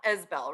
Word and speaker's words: Isbell: It's now Isbell, right? Yes. Awesome.